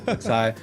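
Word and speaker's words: Xi: Flash kits like the Messer, the Penelope, the Kasai, I don't know how to say it properly. Zai, yeah. Kasai.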